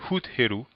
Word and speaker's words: Het Heru: Donc cette fois-ci, on se dirige vers la chapelle de Het Heru, qui est plus connue sous la forme gréquisée de Hathor. Donc peut-être qu'une prononciation encore plus aiguë que Het Heru serait Hut Heru, d'accord?